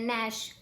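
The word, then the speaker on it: gnash: तो हमारा वर्ड देखो क्या है, ये वर्ड है हमारा ग्नैश। इसको देखो हम कैसे बनाएंगे, मतलब इसमें हमारा जी साइलेंट होता है और हम इसको क्या पढ़ते हैं, नैश पढ़ते हैं, नैश।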